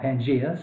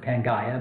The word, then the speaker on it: Pangaea: a single supercontinent called Pangaea. Some people pronounce it Pangaea, but we're going to go with Pangaea.